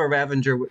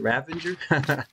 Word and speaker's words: ravager: they do have a ravenger uh ravenger yeah that's how you say it right ravager they have a ravager